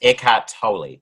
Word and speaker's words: Eckhart Tolle: or toy well see russell brandon the other day said eckhart tolle but i looked up before um before uh episode and it's eckhart tolle sorry so too but